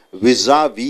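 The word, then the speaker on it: vis-à-vis: இங்கே விஐஎஸ் ஒரு டேஷ் போட்டு ஏ போட்டு மறுபடியும் டேஷ் போட்டு விஐஎஸ் என்றால் விசா வி என்று உச்சரிக்க வேண்டும்.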